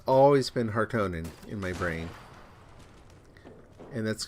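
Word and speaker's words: Harkonnen: used to saying house heartening which is how they pronounce it in this film it's always been heartonin in my brain and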